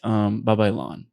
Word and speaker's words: Babaylan: They're like Babylon, like Babylon, no, Babylon, right? Babylon. No, Babylon. But Babaylan is how to say it.